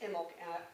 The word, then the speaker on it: Imbolc: Candlemas is the equivalent of Bridget, also known as Imbolc, which is a time when the lambs are being born and milk is running, Imbolc. And it's pronounced Imbolc, and it's spelled I-M-B-O-L-C.